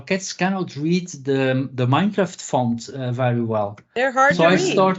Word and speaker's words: Minecraft: teacher I never played Minecraft My Generation you can tell did not have these games yeah so I I even pronoun mispronounced it I called it Mindcraft oh yeah okay from mind and craft I didn't know anything